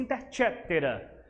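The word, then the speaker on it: Inter caetera: Eh, se pronuncia interchétera, mas é coetera mesmo, tá bom?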